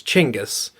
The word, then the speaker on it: Chinggis: But he uses the proper Asian pronunciation for Genghis Khan, which is Chinggis. Okay. Because Genghis is like a double bastardization through Britain English or British English and then American English.